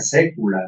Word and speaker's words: saecula: Por ejemplo, aquí cuando se escribe la palabra saecula, se pronuncia sécula, ¿no?